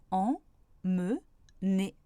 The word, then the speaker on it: emmener: Par exemple, emmener a 3 syllabes. En, me, né.